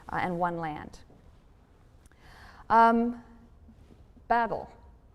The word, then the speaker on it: Babel: and one land um Babel Babel pronounced bavel in Hebrew is Babylon the tower